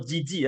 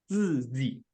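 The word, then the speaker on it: 自己: So this pronunciation is not GG, it's 自己.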